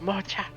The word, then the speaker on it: Mocha: that silly character moment of everyone says her name wrong. It's Mocha. That is funny, and I will call you Mocha. Pronounced mocha.